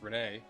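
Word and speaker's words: Renais: Probably supposed to be pronounced Renee. I've always said Renai because I'm dumb.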